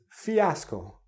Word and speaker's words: fiasco: you're thinking Fiasco Fiasco no it's Fiasco again three syllables what is a fiasco